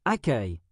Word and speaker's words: accueil: Par exemple, un élève connaît le mot accueil, mais ne sait pas qu'il se prononce accueil.